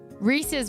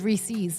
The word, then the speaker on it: Reese's: Well, one thing, Reese's versus Reese's. And I think Reese's is stupid because it's Reese. Apostrophe S is Reese's.